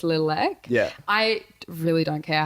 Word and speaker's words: Littlek: has thought that it's lilac yeah I care how people pronounce it I like when people call it Lilac because then I know they're acknowledging it as one word and not two words because it's not two